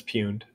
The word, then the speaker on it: pwned: fumed perfect you know the correct pronunciation when people say it pwned they're wrong um yeah it's puned I don't have any